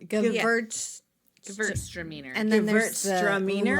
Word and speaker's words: Gewürztraminer: Yeah, Like it's- the W is a V. Gewürz. Gewürztraminer. And then there's the Gewürztraminer? lot. I think Sure. Gewürztraminer.